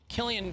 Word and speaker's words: Killeen: Killeen, Texas. Killeen, K-I-L-L-E-E-N. I'm gonna go with Killeen, Texas. That's how I want to pronounce it.